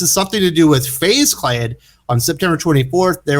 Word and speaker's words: FaZe: because i wasn't sure if they pronounced their name phase or phase e and it is phase because they spell it capital f lowercase a capital z or kc um from what i